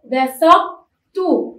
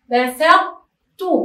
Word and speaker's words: بسطتُ: مثالها بسطتُ، بسطتُ، انتبهوا لللفظ. أيضا أحطتُ، أنا لم أنطق الطاء وإنما أبقيت على صفة الطاء وهي التفخيم، أبقيت على صفة الطاء وهي التفخيم.